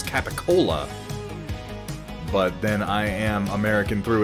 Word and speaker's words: capicola: It's just a funny pronunciation for what appears to, when written, be pronounced as capicola.